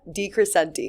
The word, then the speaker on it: DeCrescente: today I am here with the one and only Lisa DeCrescente. Thank God for that. I finally pronounced her last name right.